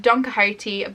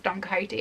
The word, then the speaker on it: Don Quixote: one not only because i finally know how to pronounce don quixote after like so many years of seeing it written and being like don quixot so danka haiti is basically the first